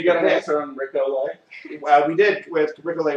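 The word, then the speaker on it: Olié: O-L-I-E, I believe is how you spell it. But it is pronounced Olay.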